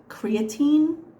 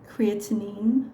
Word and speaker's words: creatinine: mostly worried about her creatine have I said that right creatinine levels excuse me for the